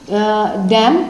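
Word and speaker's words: damn: और इसे बोलेंगे हम डैम, ठीक है, डैम बोलेंगे, एन साइलेंट हो गया यहाँ पर भी।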